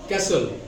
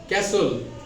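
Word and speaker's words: castle: this way this word कैसल कैसोल नॉट कैसोल the right और real pronounce कैसल in this way David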